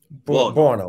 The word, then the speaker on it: Buono: How do you pronounce his last name? Is that something? Buono.